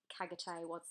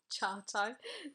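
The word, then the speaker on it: Çağatay: I mean, I literally took years to try and work out Kagate wasn't Kagate, it was Chartai.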